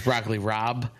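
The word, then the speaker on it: broccoli rabe: also pronounced in row it's broccoli Rob uh oh but it's r a b e is how you spell it oh broccoli Rob yeah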